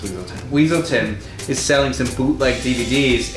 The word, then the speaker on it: Weaselton: at one point and Judy calls him Duke Weselton and he says it's pronounced weaselton and in Frozen it's the inverse of that